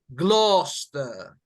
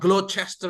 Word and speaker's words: Gloucester: so guys almost correct the real one is you can say can you say Gloucester Gloster gloves now not as loud but Gloucester yep not glow Chester as well but Bluster yep so